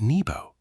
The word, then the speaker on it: Nebo: Aed ngo, pronounced Abednego, almost certainly means servant of Nego, referring to Nebo, pronounced Nebo, another Babylonian deity.